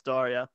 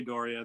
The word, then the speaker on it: D'Auria: it and uh brian brian told us darya yeah he was right although i've had members of my own family pronounce it differently so nobody knows but i say dorian that's good enough for me that's your name so